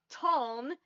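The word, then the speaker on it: Taln: Um, I'm going to give you the oleth name for it cuz that's easier to pronounce. Uh, ton.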